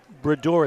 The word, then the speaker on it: Brador: And it's Brador, it's pronounced. Brador, right, Trevor?